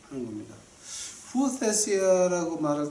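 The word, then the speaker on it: υἱοθεσία: 헬라어로 보니까 이거 갖다 어떻게 읽냐면은 후오테시아라고 발음을 합니다. 이제 오늘 제가 오늘을 한 2개만 하겠습니다. 죄송합니다. 제가 아는 거를 잘하는 것이 아니라 꼭 필요해서 제가 좀 하는 겁니다. 후오테시아라고 말할 때 이제 그 양자됐다라고 하는 걸 말하죠.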